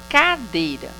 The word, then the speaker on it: cadeira: É o DEI. Então, o DEI é penúltima sílaba.